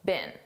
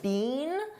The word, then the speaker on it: been: Now notice I said been a very unstressed been. This is how we pronounce the past participle of the verb be been in American English. I don't speak British English, but I believe in British English, they pronounce it more stressed, been. But in American English, we don't do that. We just say been.